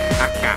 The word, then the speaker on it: AKA: เหนือ นะ อาะ นะ จริง ๆ ก็ อ่าน ว่า ร้าน อากะ นะ ก็ ถือ ว่า เป็น